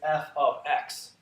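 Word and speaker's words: f(x): and what this basically how this is basically pronounced is f of x so it's it's whatever the variable on the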